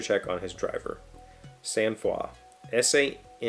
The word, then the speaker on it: sang-froid: So that sang-froid is how I would have said that had I encountered that in a book. But the pronunciation key seems to think it's one of the Romance languages.